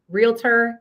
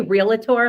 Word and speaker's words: realtor: Let me ask, did Chip and Sue ask you to pronounce realtor and did you say realator like salmon?